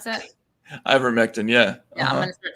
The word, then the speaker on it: ivermectin: i don't give a about ivermectin i just don't think it should be censored